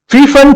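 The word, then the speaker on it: Pfund: in middle infrared region, fun series available in far infrared region. The P is silent. The fun series available in far infrared region.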